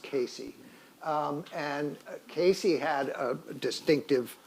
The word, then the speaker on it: Case: But it's a mirror, and Davis collected it with its history that it belonged to a man named Casey, C-A-S-E, but apparently it's pronounced Casey.